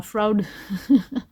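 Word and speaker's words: Froud: de F Fairies Oracle de Brian FRUD qui se prononce probablement frou j'avais fait une review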